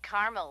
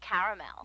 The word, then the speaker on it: caramel: that's what I said Tina actually you said caramel when it's pronounced caramel can't we just call it yellow no everyone